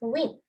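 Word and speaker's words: une: This is how to pronounce win.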